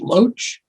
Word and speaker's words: Loach: The famous filmmaker, and I don't know how to pronounce his last name. Is it Loach?